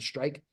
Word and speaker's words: STRIQ: They pronounce it Strike.